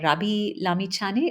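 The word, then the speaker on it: Rabi Lamichhane: lot of attention has then turned to uh Rabi Lami Chani. Is that the right way to pronounce his name?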